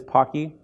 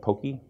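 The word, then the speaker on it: Poky: that in a second pakhi and it is pocky you know you'll see people pronouncing at pokey as well as pokey okay Pocky is in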